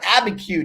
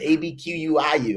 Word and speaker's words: Abiquiu: New Mexico, to a little old town called Abiquiu, New Mexico. I couldn't even pronounce it, Abquiu.